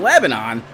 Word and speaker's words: Lebanon: Speedway is not even in Nashville it's in Lebanon pronounced Lebanon uh just 20-ish minutes outside side of